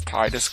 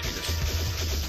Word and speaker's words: Tidus: Anyway, it's Tidus if you want to go with the water theme of the game, and it's Tidus if